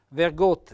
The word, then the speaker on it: vergot: pertosse poi c'è vergot vergot Vedete un bell'accento fonico chiuso vergot qualcosa e infine chiudiamo